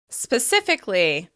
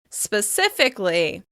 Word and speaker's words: specifically: As you can hear, there's a lot of is sounds in this word, and we're stressing the second syllable. Specifically. As you can hear, we're dropping that vowel before the ly. We don't say specifically, we say specifically.